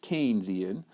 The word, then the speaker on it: Keynesian: other view is the Keynesian view and that's pronounced Keynesian John Maynard Keynes was an English economy during